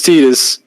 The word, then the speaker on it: Titus: sworn his name was Titus they're like NOP his name is tetus should have named his parents should have renamed him to tedious because that's what it feels like trying to get the correct pronunciation now Master Chief gets